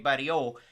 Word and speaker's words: Barriault: travaille aussi au Québec, donc c'est Marc-Andre Barriault. On prononce pas le T.